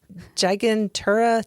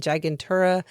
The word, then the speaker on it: Gigantura: Gigantura tuni and gigantura indica. Gigantura as in gigantic.